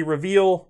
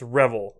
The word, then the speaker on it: Revel: I keep wanting to say reveal, I think it's Revel, although I'm sure everyone will complain that I mispronounced it anyway.